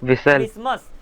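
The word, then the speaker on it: Christmas: आप बोलते हो विसल क्रिस्मस तो यहां पर एस्टीमेट साइलेंट है सिंपल देन मैच वच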